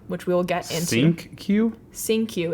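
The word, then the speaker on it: Cinque: nickname is SQ which we will get into sink Q sink QQ it's spelled c i n n q e c i n q e but it's pronounced sing Q okay um also speaks on the tape towards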